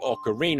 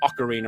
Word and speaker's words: ocarina: You got to play with the Ocarina or Ocarina or however you want to pronounce it and you tried to be a musical master to say it both times. Slight slight stressor on a different syllable maybe.